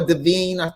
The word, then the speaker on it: Divine: two others two flankers the old divine or davine that's how you pronounce it and which is the